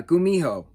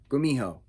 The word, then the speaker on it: gumiho: fox spirit thank you thank you for the pronunciations in the back i do appreciate that uh gumiho gumiho g-u-m-i-h-o gumiho a gumiho a fox spirit will